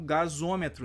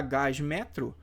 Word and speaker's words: gasômetro: de ligação também então em vez de ficar gás metro eu pronuncio Gasômetro e esse o aqui saiu De onde ele é uma mera vogal de ligação para quê para facilitar a pronúncia dessa palavra Beleza então